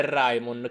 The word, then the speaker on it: Raimon: Quindi Raymond in realtà è Raimon, cancello del tuono, quindi dico Raimon.